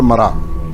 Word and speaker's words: Mra: तो ये है, एक है नाह NAH, दूसरा है मरा MRA। उसको मारा भी बोलता है but it is pronounced as मरा, but when you write it in English it is usually MARA।